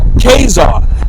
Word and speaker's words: Caesar: you heard of Julius Caesar you know that's actually pronounced kesar is c a e s a r k yeah same it's the same thing you know in English it's pronounced as Caesar yeah but how is